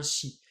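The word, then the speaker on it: し: la colonne des I, ça fait si, que les japonais prononcent bien shi.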